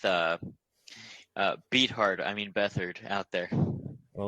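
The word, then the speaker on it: Beathard: And uh we'll see if Bethard, that's how it's pronounced, not beat hard, uh can uh lead our team to victory.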